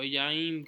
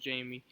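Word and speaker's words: Jaime: I do like Jamie Garcia or Yaim Garcia, however you say his name, because I'm pretty sure it's not pronounced Jamie.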